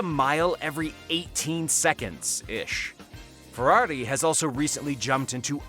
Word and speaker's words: Ferrari: world number seven ferrari even the word ferrari sounds excessive each of its three syllables stretching out as much as possible it sounds like champagne